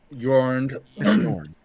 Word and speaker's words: Yorn: I say Is it Jordan or Yorn? Yorn. Okay, I said it right the first time.